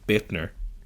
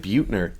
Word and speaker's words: Buettner: Sticking with incredibly impressive powerlifters, we've Jessica Buettner. That's not how you think you'd say it, but that is. Oh, is that how you pronounce it? Yeah, it's I always said Buettner. Yeah, you're wrong.